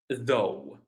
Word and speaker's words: though: Though it the GH is silent. It's not pronounced at all.